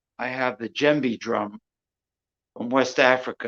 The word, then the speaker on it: djembe: I have the djembe drum from West Africa.